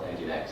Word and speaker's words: nginx: I actually really hate the way they spell nginx. It actually took me a couple of months to realize it's pronounced nginx.